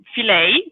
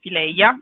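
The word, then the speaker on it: fileja: Allora, today we are doing a pasta which is called filet or fileia. If you want to pronounce it in dialect, you should say filet, even if there is an A at the end, okay?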